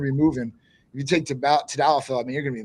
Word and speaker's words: Tadalafil: Some people do Tadalafil. Proper pronunciation is Tadalafil. Tadalafil.